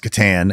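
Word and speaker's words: C'tan: Didn't the Now I know it's pronounced katan create the or something.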